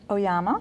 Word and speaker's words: Oyama: do you uh mr oyama i love that your name rhymes with obama yes nowadays they call